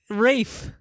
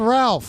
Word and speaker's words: Ralph: movies of they wait his first name is pronounced Rafe. I think so. I've always just assumed it's Ray Fines. I thought it was not Raph Rafe Fines. Oh, maybe it's Ray.